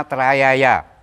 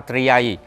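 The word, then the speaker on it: trayāya: Contoh ya, Namo Ratna Trayaya ditulis menjadi Namo Ratna Triyai. Berbulan-bulan saya mencari kata Triyai, nggak ketemu. Ternyata memang dialek. Karena itu berasal dari Mandarin yang diterjemahkan ke Sangsekerta, direkonstruksi. Justru jadi keliru. Iya. Sebetulnya Namo Ratna Trayaya, Namo Arya gitu ya. Jadi dengan bahasa dialek Anda akan tahu.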